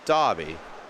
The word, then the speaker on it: Derby: That's how I always thought, or not always thought, but that's how the Brits pronounce Derby. They call it a Dobby.